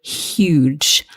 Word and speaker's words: huge: The thing to watch out for here is that we must pronounce the H. So huge, not huge. Okay, you may hear that pronounced slightly differently in different parts of the English-speaking world, but we both say huge.